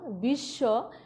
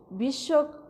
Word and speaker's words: বিশ্ব: শব্দের প্রথম বর্ণ ছাড়া পরে যে কোনো বর্ণে যুক্ত হলে যুক্ত বর্ণটির উচ্চারণ দ্বিত্ব হয়, তার মানে দুইবার হয়। একটু খেয়াল করো, যেমন বিশ্ব, বিশ্ব, বিশ্ব, তত্ত্ব।